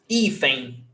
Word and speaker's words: hífen: Hífen, N, termina em N, 2 syllables, paroxítona, então, pé, hífen.